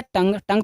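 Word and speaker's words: tongue: होगा जेब तंग जेब यहां पे भी दव लास्ट में आया है इस वजह से लास्ट में अगर गू आता है तो ये यू हो जाता है साइलेंट बचा का टी ओ एन जी और आई बचा तो क्या पढ़ेंगे तंग तंग में जेब नेक्स्ट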